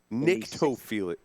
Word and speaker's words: Nyctophilia: Nyctophilia. Not necrophilia. That's something different.